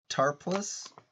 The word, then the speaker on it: Tarpals: with that weird thing on the face captain tar plus yeah that's how you say his name the